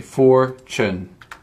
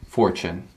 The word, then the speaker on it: fortune: something very valuable and you just say four chin so it's like chin kind of like that uh four chin fortune um you wanna give